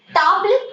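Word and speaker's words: table: म, मी my self, ट, you your self, टाब्ल इज टेबल। Spelling देखो टेबल की सेम है, बट आप इसको फ्रेंच में पढ़ेंगी टाब्ल, टाब्ल।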